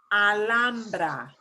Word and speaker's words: Alhambra: Ooh, the H is right in the middle. So we have to slide through and ignore that. Alhambra.